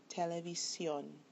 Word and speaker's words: televisión: Televisión, this is where the accent is on the last syllable, but it does end in N, and therefore, because it ends in N, it should follow the second to the last syllable, but it breaks the rule and it's marked graphically at the end.